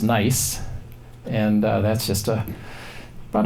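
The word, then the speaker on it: gneiss: one is is a rock called nice pronounced pronounced nice and that's just a about a mile or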